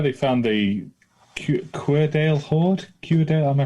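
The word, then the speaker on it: Cuerdale: Querdale, am I pronouncing that right?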